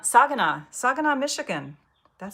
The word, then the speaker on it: Saginaw: Saginaw, Saginaw, Saginaw, Michigan.